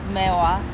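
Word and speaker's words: Meihwa: Meiwa.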